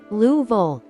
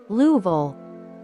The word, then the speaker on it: Louisville: that locals call it louville yes that's right louv the name kind of rolls together almost like one sound it's a bit of